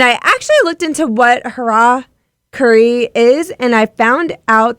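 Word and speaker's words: hara-kiri: sword and if you're wondering about that name Hara Curry and thinking harikari or Harry Carey which a lot of people say and that's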